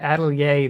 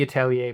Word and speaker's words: Atelier: Witch Hat Atelier, that's how I was told to pronounce it. It might be Atelier, but I was told to say Atelier.